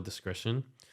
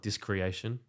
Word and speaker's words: Discretion: those that can't spoil discretion because I get it they people get around all the time it's not discreation it's not disconnection d-i-s-c-r-e-t-i-o-n you have no trouble